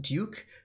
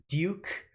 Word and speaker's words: Duke: so like you know duke university should be pronounced duke that like there's technically a liquid you and duke but people uh americans in general have dropped the liquid use although not completely